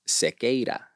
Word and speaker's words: Sequeira: So when you pronounce the name in Spanish, it's Cicada, right? Mm. That R kind of rolls off like a D.